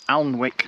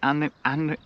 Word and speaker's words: Alnwick: So we're just to the west of Alnwick now. How do you pronounce it? Alnwick? Annick?